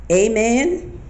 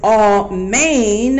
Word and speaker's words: Amen: I've heard a man pronounced I've heard it pronounced Amen I've had a pronounce all man I've heard